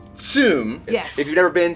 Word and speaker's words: zum: It is spelled Z-U-M, but it's pronounced Zoom.